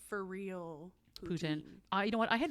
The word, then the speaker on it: poutine: pronounce it poutin now originally I would pronounce say poutin and now my French friends make fun of me lowkey about it so I had to say ptin but yeah you know